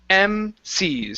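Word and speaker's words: MCs: that was incorrect information so really when we when we say this it's uh or when it's spelled out it it usually looks like this okay and so it's two letters together and so when we say that each one is emphasized individually MC's so we don't want to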